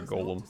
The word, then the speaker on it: golem: Golem on our way or Gollum however you want to pronounce it I prefer Golem en I've heard plenty of people say Gollum need a restock on